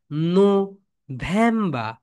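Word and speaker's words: November: ভুল হয় এখানে দেখো এখানে হচ্ছে নোটা আগে নিয়ে চলে আসো সবাই ন্যামবা এখানে কিন্তু সবাই ভুল করে ওকে এই বিষয়টা মাথায়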